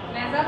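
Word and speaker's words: nasal: নেজাল কনজেশন, এটা নাসাল না, হ্যাঁ উচ্চারণ হচ্ছে নেজাল, নোজ থেকে নেজাল আসছে।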